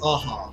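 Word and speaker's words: Aja: run, and like the distinct art style of Aha. I don't know how to pronounce his name. If I'm mispronouncing, I apologize. Like No, it is Aha.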